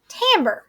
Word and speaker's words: timbre: little bit different and it is something called Tambor now you may be saying miss Jenny that